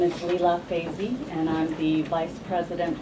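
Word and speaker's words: Lila Feisee: names thank you start first my name is Leela FY and I'm the vice president for international Affairs at bio and my name is spelled l i l a f e i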